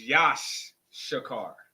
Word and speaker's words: Issachar: We're gonna break down Issachar. Let's do it. Yeah. Is Satchar. Yeah. Is Issachar. So Yeah. Issachar. Issachar in our native tongue or in the Hebrew language is pronounced Yash. Yeah. It's Yash Shakar.